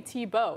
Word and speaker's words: Tebow: to by the way why is his name t-bo it's spelled t- bow so why why don't we call him bow I don't get it